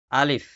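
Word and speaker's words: ألف: হরফের প্রথম হরফের নাম আলিফ। আমার সাথে সাথে বলবেন নাম আলিফ। আলিফ আলিফ। আলিফ সরে ল এর রশি ফ। লাস্টে একটা ফ উচ্চারণ হবে।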